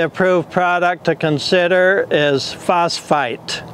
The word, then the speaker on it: phosphite: product to consider is phosphite now I'm not mispronouncing phosphate those are two different words phosphate is of natural origin phosphite is synthesized and the